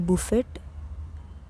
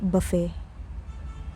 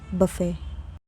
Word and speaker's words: buffet: When you go to a wedding or a big hotel with unlimited food, you eat at the buffet? No. The T is completely silent. It is pronounced buffet. buffet Now, let's talk about hidden letters.